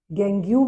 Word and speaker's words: gangue: गैंग्यू भी बोल सकते हो। स्पेलिंग अगर सही लिखनी है नहीं तो इसको गैंग भी बोल देते हैं।